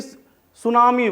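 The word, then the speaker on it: tsunami: और इंग्लिश में तो प्रोनाउंसिएशन में चूंकि अब देखिए एक ही सुनामी वर्ड है, टी से शुरू हो रहा है, वो वहाँ टी साइलेंट है, क्योंकि ये सुनामी अब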